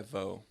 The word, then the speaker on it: Vo: V is my middle name V is my last name okay okay cuz you're you're VES right yeah so V hello so I mean